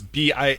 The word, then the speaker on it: Bastille: So French pronunciation is just hell, because you have a word like Bastille, where it's Bastille, right?